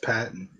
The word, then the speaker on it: Patton: your last name like is it Patton or pton that's Patton Patt Patton okay that's what